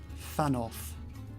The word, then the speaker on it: Thanoth: This is Inspector Thanoth, which kind of sounds like you're pronouncing Thanos from Marvel, from the Marvel comics, with a lisp.